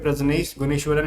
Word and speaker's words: प्रजनेश गुणेश्वरन: तो ये ये है ना, आपको यहाँ पे प्रजनेश गुणेश्वरन इनका नाम है, तो थोड़ा सा नाम आपको